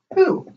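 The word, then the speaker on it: הוא: And this word is pronounced who.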